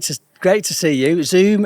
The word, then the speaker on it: Zzoomm: great to see you zoom is spelled double z m so not not to be confused with the video conference company let's dive in with